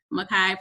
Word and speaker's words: Mikai: Mikai, pronounced like Mikai Pfeiffer.